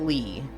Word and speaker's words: Leigh: How can you keep saying it le cuz you put L E I G H. That's lei like sleigh. People don't pronounce that. Lee.